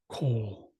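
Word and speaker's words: cole: without the e but either way it's pronounced coal like a lump of coal day is Sun you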